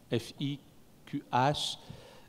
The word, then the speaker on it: fiqh: Alors quand je lis parfois certains ouvrages écrits en français, c'est le fiqh, F-I-Q-H, puisqu'on ne peut pas prononcer le ha, donc fiqh.